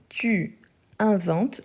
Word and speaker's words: inventes: drôles parfait parfait donc tu inventes n'oubliez pas la marque de tu c'est le S à la fin donc tu inventes avec le S même si on ne le prononce pas tu inventes de blagues